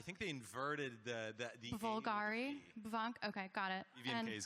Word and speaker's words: BVNK: you don't want to pronounce it bunk, like Bulgari? I think they inverted the Bulgari? Bunk?